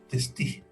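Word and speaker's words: Testut: que por si acaso en los libros se escribe Testú, pero se lee Testi.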